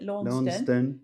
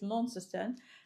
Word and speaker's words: Launceston: We arrived in Launceston, which I keep wanting to call it Launceston, because that's how English would pronounce it, but it's Launceston.